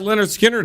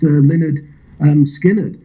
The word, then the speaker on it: Lynyrd Skynyrd: So you got Lynyrd Skynyrd up next, eh?